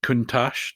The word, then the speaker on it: Countach: So everybody went sort of bananas for the white Countach, to pronounce it, I think, correctly.